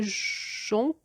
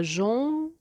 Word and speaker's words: jonc: La lumière pourpre est le jonc et le joug. Alors là aussi, je suis allée sur Internet. Alors on ne dit pas jonc, jonc, jong, on dit jon. On ne prononce pas le C.